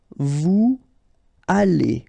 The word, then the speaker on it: vous allez: Then, vous allez. Remember, a Z at the end here will give you this A sound.